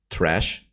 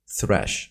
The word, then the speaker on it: Thresh: for calling out me calling him trash it's thrash pretty sure it's thrash right so he's a